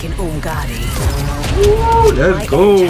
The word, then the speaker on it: Umgadi: Umgadi, that's how you say it.